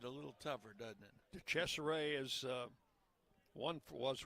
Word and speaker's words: DeCesare: DeCesare is what their right-hand batter pronunciation guide says.